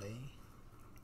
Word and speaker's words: lei: 500 lei, that's what it's called, pronounced lei.